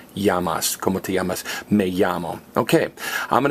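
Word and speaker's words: llamas: their name you sayas even though it's spelled l l m a s you pronounce it yamas yamas may okay I'm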